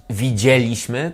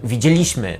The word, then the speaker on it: widzieliśmy: Podobnie było na przykład w momencie, w którym zdałem sobie sprawę, że źle kładę akcenty przy odmianie czasowników i zamiast powiedzieć widzieliśmy, tak jak mówię teraz, mówiłem widzieliśmy.